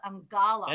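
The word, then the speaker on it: Eungella: Sorry, I couldn't pronounce that. Angala.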